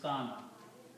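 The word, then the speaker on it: كان: And waw with the fatha is pronounced as alif, so this becomes kana.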